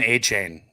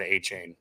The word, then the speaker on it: Achane: It's Devon Achane, or A-Chan. A-Chan's how you say it. The guy I listened to for years at A&M that announced him always said A-Chain, but it's A-Chan, I think, is how you say it.